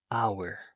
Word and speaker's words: hour: Example, an apple followed by a vowel, an hour. Because the letter H is silent.